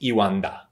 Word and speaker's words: E1DA: be even yes but i guess we pronounce it iwanda and guess what that